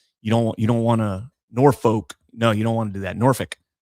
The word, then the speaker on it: Norfolk: Like Norfolk. You got to say it like really fast. You don't want to Norfolk.